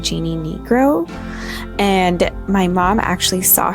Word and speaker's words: Jeanne Nigro: It's spelled like Jeanne, but I'm pretty sure it's pronounced Jeannie Negro.